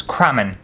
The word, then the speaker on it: Crammen: if you've ever wondered it's cramming not cramming not anything else just cramming i've spelt my name